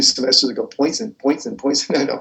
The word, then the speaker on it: Poisson: I know if you want, you could be like that guy from 2 semesters ago, Poisson. I know, Poisson. I hate it when people mispronounce basic French words, the same kind of